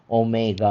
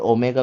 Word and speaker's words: ओमेगा: Fine और ओमेगा का उच्चारण भी ओ का होता है। ठीक है? ओमिक्रॉन जैसे ही ओमेगा का उच्चारण होगा ओ का। जैसे कि गोल्ड। ठीक है? या फिर ओल्ड।